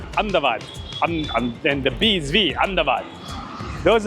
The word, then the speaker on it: Ahmedabad: let's explore a bit Ahmedabad which is not pronounced like this uh in guati they cut a lot the ball so it's will be like andad and the BV andad